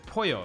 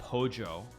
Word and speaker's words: Poyo: that doesn't matter yeah it's Poyo of course it's not pojo like they pronounce it or they they like they they roll it into the PO is it like however they pronounce it like it's just a little bit off and it's not right